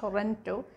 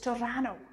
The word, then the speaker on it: Toronto: as toronto it's not toronto it's torano the locals pronounce it as torano so if you want